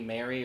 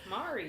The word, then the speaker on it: Mari: I definitely want to do the Rainy Mary or Rainy Mari. I think I've been saying her name wrong this whole time. Mari or Mary. I don't fucking know. Mari. It's Mari.